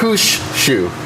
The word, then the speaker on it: Mushushu: Mushushu. Okay, 3 syllables.